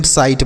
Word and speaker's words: sight: तो अगर आई के साथ GH लिखा रहता है तो इस आई का उच्चारण आई होता है। SIGHT, इसे हम साइट पढ़ेंगे।